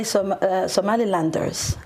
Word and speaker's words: Somalilanders: We say Somalilanders.